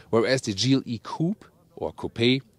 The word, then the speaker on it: coupé: the gle coupe or copay we always say copay because we lean to the french original pronunciation there's also a separate